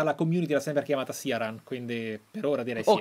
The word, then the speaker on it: Ciaran: Come si pronuncia? Ciaran? Sì, Ciaran.